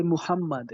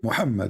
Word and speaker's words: Muhammad: I say Muhammad. Is that how you say? Muhammad, yes, Muhammad.